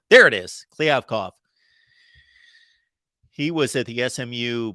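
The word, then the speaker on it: Kliavkoff: but of course we saw Pac-12 commissioner George Cliff COV I'm going to get that pronunciation down at some point I gotta hear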